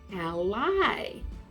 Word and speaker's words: ally: also has another meaning it's spelled the same but you say it like this a lie do you know what